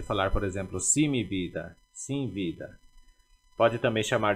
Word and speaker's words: vida: primeira teremos vida e vida é a forma de pronunciar vida o ver sempre Sutil vida aí você pode